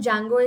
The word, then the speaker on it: Django: Jango installation so here the D in Django is silent so we'll just be